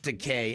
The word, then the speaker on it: Takei: going to have George Decay as our guest talking about his new movie. I'm sorry. His new graphic novel, It Rhymes with Teay. It rhymes with Teay. Dean, I know. Okay. Because he's gay.